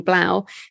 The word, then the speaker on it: 3LAU: I think you pronounce his name Blau, 3LAU.